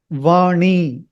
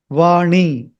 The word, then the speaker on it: वाणी: Okay, so try it now. Vāṇī, vāṇī, vāṇī. It should not touch the teeth. It is just after the hard palate is over and just before the teeth starts. There is a ridge, that is where you have to touch it.